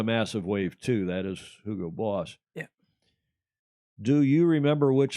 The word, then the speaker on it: Hugo Boss: i know you angles like to say hugo boss but having lived in germany for eight years and had hugo boss as a sponsor of the mclaren f1 team we all learned to pronounce it the way the germans do hugo hugo boss and speaking of f1